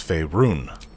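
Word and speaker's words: Faerûn: No, it's Faerun. What does that mean? You're too good to pronounce it properly.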